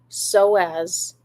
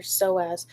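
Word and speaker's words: psoas: Google so the um this is with your soaz with your soas it's spelled in a crazy way PS o a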